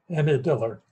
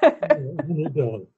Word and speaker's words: Annie Dillard: Annie Dillard. Thank you. Annie Dillard.